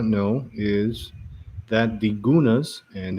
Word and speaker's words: Gunas: So what some of you might not know is that the Gunas, and they prefer that we pronounce it with a G because there is no C or K in their alphabet.